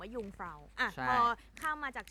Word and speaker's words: Jungfrau: จะ จะ เรียก ว่า จูง เฟ้า อ่า คน ไทย จะ เรียก กัน ว่า จูง เฟ้า แล้ว เรา ก็ เพิ่ง รู้ กัน ว่า อ เค ออก เสียง ว่า ยุฟ้า อ่ะ พอ ข้าม มา